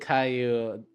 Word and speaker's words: Caillou: You literally pronounced it Caillou because double L is mute.